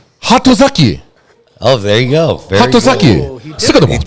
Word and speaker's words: Hatozaki: Haraziki? Hatozaki. Oh, there you go. Very good. Hatozaki. He did it. It was actually pretty good, though. I don't fucking know. Hatozaki.